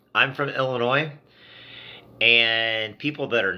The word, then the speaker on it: Illinois: Illinois, so they call Illinois. And if you're from Illinois, it's one of those just pet peeves that drives you crazy when you hear somebody pronounce the S on Illinois.